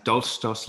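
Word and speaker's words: Dolchstoß: Well, and yes, you pronounced it absolutely fine. That's Dolchstoss Legende, stab in the back myth, is one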